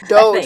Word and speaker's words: Doge: How is it pronounced? Doge.